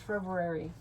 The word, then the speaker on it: February: I hate I missed it out because if you sound it out, February. That's how I do it, and that's not how it's spelled. It's pronounced February. I know. February. There's two R's. There's an R in there.